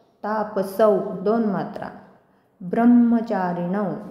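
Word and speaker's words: ब्रह्मचारिणौ: त तापस दोन मात्रा ब्रह्मचारीण आता ब्रहला म जोडला तिथे ब्रह्म जोडाक्षर आहे ब्र म्हणताना पुन्हा ब्र वर पण आघात येल ब्रह्म चारण पुत्र हे रसव्याचा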